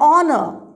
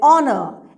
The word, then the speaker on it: honor: Here also, the letter H is silent. An honor. An honor.